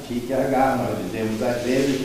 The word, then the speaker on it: Kierkegaard: Kierkegaard, nós dizemos às vezes, parece que os dinamarqueses pronunciam Kierkegaard.